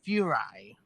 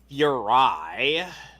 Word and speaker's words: Furai: This is the Fury. The Fury figures? I don't know how it's No, pronounced. it's pronounced Furai, as in the Shirai Ryu.